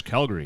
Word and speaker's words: Calgary: for saying Calgary yeah they probably don't like the emphasis on the syllables right they just slurred into one they're like it's Calgary and I'm like I'm